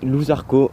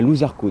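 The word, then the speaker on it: Loup Zarko: C'est Louzarco, donc petite pub à lui.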